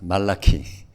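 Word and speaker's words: Malachi: Today as a final session of our prophet cities we will examine the prophet 말라 in English malak but will pronounce pronounce malaki just likew pronounciation 말라기서는 구약 성경의 마지막 책이죠.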